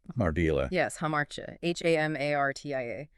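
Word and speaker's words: ἁμαρτία: Yes, hamartia. Hamartia. Pronounced hamartia.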